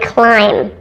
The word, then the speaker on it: climb: about food here are two silent B words that are both spelled with I but do not rhyme Lim and climb don't climb on that broken tree limb did you hear the difference in the two eye pronunciations climb has a long